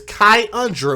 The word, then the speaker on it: Khy'undra: is the last name the baby's name is kai under which is k-h-y apostrophe u-n-d-r-a and i want